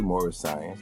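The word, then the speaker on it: Moorish Science: to live the life more science. Am I saying it right, brother? Yeah, you can say uh yeah, you can say more science.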